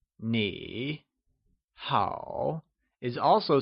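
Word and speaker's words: 你: Nī Nǐ Nì Solution What is the correct tone of you in you good? Nī Nì Nǐ So remember!You = Nǐ is pronounced using a falling rising tone (3rd) Pick the right option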